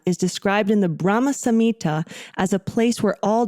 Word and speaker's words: Samhita: I feel like so many people say Samhita, but it's Samhita.